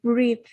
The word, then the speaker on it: breath: Còn cái này danh từ là E, breath.